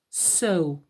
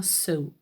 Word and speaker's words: sew: Juste, le verbe coudre se prononce sew, d'accord? C'est un peu bizarre puisqu'il y a un E, mais ça se prononce bien sew et shape pour mettre en forme.